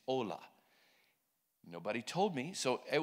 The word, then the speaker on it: hola: and it's spelled h-o-l-a in Spanish you don't pronounce the h it's ola nobody told me so